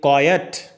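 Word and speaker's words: quiet: के बाद है, जबकि कॉयट, कॉयट, कॉयट, अब देखिए ना इसकी जो प्रोनाउंसिएशन है वो भी बिल्कुल डिफरेंट है। वो क्वाइट नहीं है, कॉयट है।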